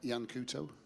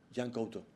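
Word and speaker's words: Yan Couto: Yeah, Jan Couto. Jan Couto. Yeah. No, you pronounce really good.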